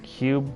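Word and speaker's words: Qube: QBE is an interesting Cube based puzzle game on Steam for 99 cents right now huh never heard of it QB H how is that pronounced just pronounce Cube cool I played a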